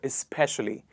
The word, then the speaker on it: especially: Especially or especially. It is is. We started with is.